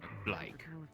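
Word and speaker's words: Blaique: The U is silent. Sure. Yeah. Wait, what? At hand. Yeah. You have a U in your name? Like How the you fuck do you sound. have... Yeah. B-L-A-I-Q-U-E. Blake.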